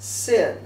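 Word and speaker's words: שׂ: it's pronounced a Sheen if the dot is on the left side of the letter it's pronounced sin it has two forms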